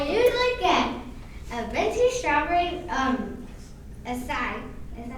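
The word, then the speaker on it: açaí: So, I usually get a venti strawberry, acai.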